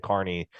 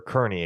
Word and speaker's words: Kearney: I think no surprise Zion Carney or Kearney excuse me I always do that because there's a town in Nebraska called Kearney spelled the same way but I think Zion